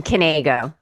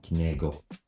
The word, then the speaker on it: Knego: Is it Knego, or I have to pronounce the K? You pronounce the K. Oh, yes. so Knego. Oh, Knego.